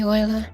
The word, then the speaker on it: Euler: it's local wheeler angle euler angle always pronounce it as the guy's name was actually euler pronounced the x rotation